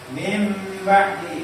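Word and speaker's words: مِنْ بَعْدِ: Ini bacanya bukan min ya, tapi mim. Nun sukunnya juga menjadi apa? Ba serta didengungkan. Nun sukunnya berubah menjadi biasanya terendam mim kecil di ulang itu. Nah, maka bacanya mim, bukan min tapi Mim.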